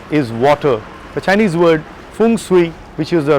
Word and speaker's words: Feng Shui: The Chinese word Feng Shui, which is the right pronunciation, transforms to balancing the energy flow.